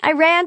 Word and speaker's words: Iran: i ran to iran i ran to iran the correct pronunciation i always informed them is iran iran is a sentence i told them as